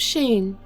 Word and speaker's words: Shein: "The name's Sheen, spelt with an E-I-N instead of an I-N-E."